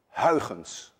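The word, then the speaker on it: Huygens: consist of waves as suggested by my Countryman Hans which actually should be pronounced hens and none of you can say hun and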